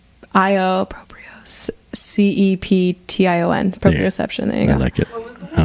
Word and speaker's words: proprioception: yoga class and heard this word which is proprioception it's the ability big word cut to the